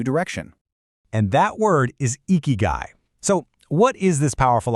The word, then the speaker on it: ikigai: At its heart, eeky guy, pronounced eeky guy, is your why.